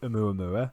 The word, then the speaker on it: Oumuamua: I have often heard it pronounced Oumuamua.